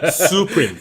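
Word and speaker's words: Supreme: 슈프림 도산 오픈했죠 드디어. 오픈. 말고 많고 탈도 많게. 네, 수프림이라고 발음해 주십시오. 수프림. 네? 수프림이라고 발음해 수프림.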